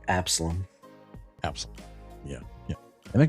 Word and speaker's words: Absalom: Like Absalom.